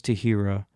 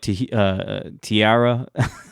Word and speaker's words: Tahira: When my parents first met her, my dad and my stepmom, they could not pronounce Tahira to save their lives, and sometimes they still can't. They used to call her like Tiara.